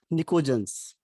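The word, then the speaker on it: pnictogen: PNICOGEN, इसमें P silent रहता है, निकोजेंस।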